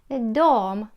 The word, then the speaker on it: de: вона Та він дом вони дом вимовляється чомусь до пишеться Як бачите де але вимовляється до чи є ген для